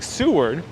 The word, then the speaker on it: Seward: about sue word so i'm pronouncing correctly seward and seward was the